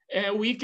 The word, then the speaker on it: Wick: Johann Wick, Wick é na verdade, se tem ali o ezinho, mas a pronúncia alemã termina Wick mesmo.